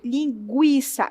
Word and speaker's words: linguiça: O trema servia para que a palavra fosse com ertiçom, por exemplo, linguiça, esse u fosse pronunciado. Então, em vez de falar linguiça, você fala gui, sai esse gui.